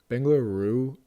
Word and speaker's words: Bengaluru: Bengaluru is like the... That's how you say it. Like the Hindi way to say it.